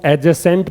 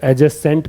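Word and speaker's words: adjacent: ऐसे ही मैं एक और वर्ड लिख दूं, ये वाला वर्ड, इसको एडजेसेंट पढ़ा जाता है, क्योंकि ए और जे के बीच में डी है तो डी को भूल जाएं तो एडजेसेंट पढ़ना पड़ेगा, ठीक है।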